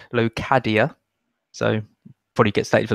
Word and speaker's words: Locadia: I've researched how to pronounce his name, and I believe it's Locadia.